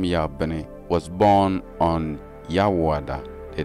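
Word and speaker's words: Yabin: The transliteration, which is Y-A-B-I-Y-N. Now, then you get the pronunciation, which is Yawuah.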